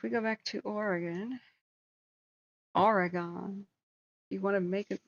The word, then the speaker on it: Oregon: go back to Oregon Oregon you want to make an oronia messed up it's super angry at you just say Oregon look it's just two syllables it's orgon that's it okay the upper Apple